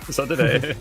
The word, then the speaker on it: Sodad: They say, in French, they say it Sodad, just like so dad. And as you can see, it's actually very close to pronunciation in Portuguese as well, where the word actually comes from.